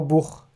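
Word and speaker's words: Buch: كدهش شش وبعدين عندنا والها وممكن هنا ننطقها ساعات خا وساعات بننطقها شين خفيفه فهنا اول مثلا عندنا اش بتنتنطق زي الشين اش تاني كلمه عندنا النخط اللي هو الليل نخت هنا بتتنطق زي الخاء او بخ اللي هو الكتاب بخ فنسمع بسرعه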